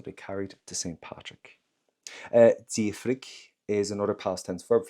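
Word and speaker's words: d'fhiafraigh: And one thing, do me a favor, never pronounce an FH in Irish. So that's why I'm going to go for the D apostrophe and straight into that letter I. Diafrig.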